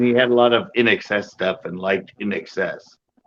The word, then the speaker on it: INXS: don't know I just it's in excess spelled i n SX XS yeah I nxs but it stands for in excess lead lead singer died